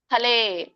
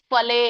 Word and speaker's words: ಫಲೇ: ಪೂರ್ಣ ಹೇಳಂಗಿಲ್ಲ ಅಯುಕ್ತ ಕಾಮಕಾರೇಣ ಫಲೆ ಫಲೆ ಹೇಳಬೇಡಿ ಫಲೇ ಹೇಳಬೇಕು ಫಲೆ ಸಕ್ತೋ ಕ ಕೆ